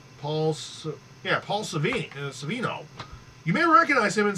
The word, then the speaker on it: Paul Sorvino: How does he pronounce his name? Paul Savino.